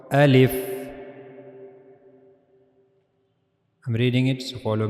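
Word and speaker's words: ألف: So now the articulation point of the al if as you can see in this picture this is the pronouncing point of the al if the empty space of your mouth.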